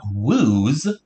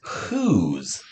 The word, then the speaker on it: whose: with a feather but this word is not wooze right it's whose so we're going to